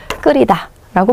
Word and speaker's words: 끓이다: 접미사 그러니까요 때는요 예 히을 발음하지 않죠 그러면서 일단 어떻게 되는 거예요 이게 대놓고 요게 여음이 되는 거죠 그래서 어떻게 발음하시는게 맞는 거예요 끓이다라고 발음하시는게 맞습니다 예 속을 끓이다 예 그다음에